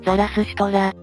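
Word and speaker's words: Zarathustra: 言語で言えばザラスシュトラという発音が近いようだが古代ギリシア語ではゾロアストレスと発音したようだ古代ギリシアっぽい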